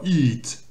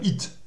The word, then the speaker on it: eat: Donc ici, dans ce mot-là, le E suivi d'un A va se prononcer I, mais un I évidemment allongé. Donc on dira eat. Hein, faut pas dire it.